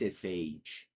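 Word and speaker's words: Phage: did I say because without the L it's pronounced Fage Fage the Untouchable whichever that's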